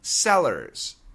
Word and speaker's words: cellar: Wine cellars, Cellars. Now listen to the pronunciation. Tremor, cellar. One ends in OR, the other ends in AR, but the pronunciation is the same.